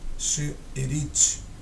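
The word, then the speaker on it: שארית: E você também encontra no Antigo Testamento, no hebraico, a palavra restante, que a pronúncia dela correta é she'erit, que significa restante.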